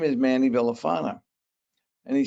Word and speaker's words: Villafaña: no it's it's manny villafana in fact if you pronounce it in spanish it's it's manny villafana and i said uh